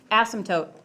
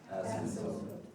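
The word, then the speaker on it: asymptote: school everybody ready uh repeat after me ass M tote tote like a tote you carry to an event ASM tote ASM tote okay all right everybody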